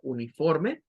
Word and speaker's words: uniform: Debemos de recordar que no suena a ni, no suena a uni, sino que suena a uniform, uniform, uniform. Nuestro oído nos engaña y piensa que allí suena una I, pero no suena una I, suena un schwa.